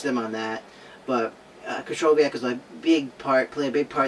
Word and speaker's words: Krychowiak: I finally learned how to pronounce that. Thank you, Juliana, for that. Krychowiak is a very solid center defensive midfielder for Sevilla and has recently won their third Europa League.